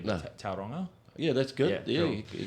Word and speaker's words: Tauranga: So we've got one more show for the tour after Auckland, and that's in, pardon me if I don't pronounce it correctly, but Tauranga.